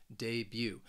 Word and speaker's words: debut: or even someone debut the reason why I think this word is often mispronounced is because you're you're not going to hear that that t at the end of the word it's almost that second syllable you're just you're just saying the letter youu you debut debut for example